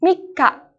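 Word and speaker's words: みっか: Nah, cara pengucapannya seperti ini ya, minasang. Tanggal 1 dibaca dengan suitachi. Tanggal 2, futsuka. Tanggal 3, mikka.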